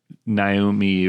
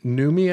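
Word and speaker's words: Noomi: The horror really sticks for me when Naomi Rapace, is that how you... Numi, I believe is how you say it?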